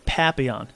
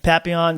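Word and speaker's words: papillon: look at his face he is a papon it's spelled p a p i l l o n I think there might be an i i o n anyway papon it's like a French word uh I think it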